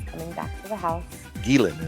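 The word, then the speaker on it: Ghislaine: Gilan is how you pronounce Jizlane.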